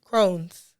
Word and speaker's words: Crohn's: Uh, it's pronounced Crohn's, right? Crohn's.